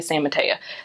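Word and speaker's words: San Mateo: so I lived in San Mato Florida that was one of the places I lived but they say San Mata that's how they pronounce it um there's inen but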